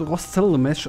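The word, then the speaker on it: Rostselmash: Übrigens, das wird Rostzell-Mesh ausgesprochen, wenn ich das jetzt richtig oder Rostel mach. Rostel-Mesh. Also vom Traktor. Vom Mähdrescher. Mähdrescher, ja. Ja. Da ist nämlich noch ein S hinterm T. Also Rostzell-Mesh.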